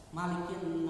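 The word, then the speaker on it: مَالِكِ: Kalau panjang apa artinya Pak? Maliki, pemilik, penguasa, pemilik, malik, ya, artinya pemilik, penguasa, ya, yang memiliki, ya, maliki, artinya yang menguasai, ya, yang memiliki.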